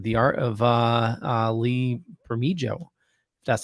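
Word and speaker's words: Lee Bermejo: in love with the art of uh uh lee for me joe that's how you say his name uh okay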